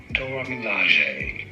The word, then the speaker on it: Dora Milaje: Up next, I'm gonna try this Dora Milaje color. Different vibe. This is also very pretty. This is Dora Milaje of Milaje. How do you say it? Dora Milaje.